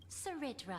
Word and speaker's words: Cerydra: But in light of your unique identities, I'll allow you to address me by my real name, Cerydra. On Cerydra, behalf that's of how my you pronounce people it.